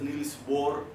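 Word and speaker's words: Niels Bohr: it is pronounced as nil bore or some of the professor used to pronounce as nil B so I heard that this H is silent but whatever our teachers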